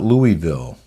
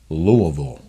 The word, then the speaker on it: Louisville: in case you're wondering yes that is how you say it it's not Louisville if you're a local or if you want to sound like one it's Louisville did you know that I